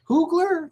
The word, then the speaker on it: Coogler: Coogler? Ryan Coogler. How do you Coogler. pronounce that phonetically? How do you say it? Ryan Coogler. Okay. Like wine That's cooler. what I with said. Google.